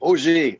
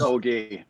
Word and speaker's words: Augé: all my name is oj oj not okay i appreciate it the german pronunciation but it's oj um i'm very happy